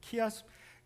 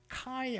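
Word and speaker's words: χ: 키아스 어 헬라어의 그 키 카이 아니면 키라고 읽는데 이게 영어의 X자같이 생겼거든요.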